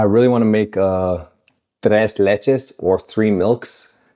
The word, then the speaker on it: tres leches: And we don't call it t leletches. We call it t leches cake.